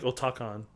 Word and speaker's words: Otacon: So we're going to call him Otacon from here on out. Apparently, like... Is it pronounced that or is it like Otakon? Well, I've heard some people say Otakon, but like they say Otacon in the...